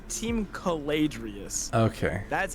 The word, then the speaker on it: Caladrius: It's Team Caladrius. Okay. That's how you pronounce it.